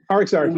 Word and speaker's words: RxArt: Is that how you pronounce it? RxArt? RxArt, yeah.